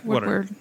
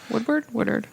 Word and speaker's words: Woodard: Yeah, Woodward. Woodward. Yeah, Woodard. Woodard. I think it's Woodard.